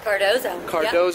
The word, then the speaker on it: Cardozo: Cardozo, yep.